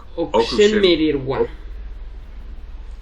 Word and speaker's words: okushemererwa: So you don't really pronounce the U. It's kind of. Yeah. Okushemererwa. Okushu mereya. Because this is oku, then she, me, re, wa. Ra.